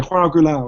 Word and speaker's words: João Goulão: I'm not Whenever I went, they would say, I'd say, what's the correct way to say your name? And he'd go, João Goulão. And I go, oh, João Goulão. And he'd go, no, João Goulão.